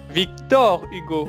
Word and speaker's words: Victor Hugo: Attention à la prononciation. Victor Oui. Hugo. Victor Hugo, Victor Hugo.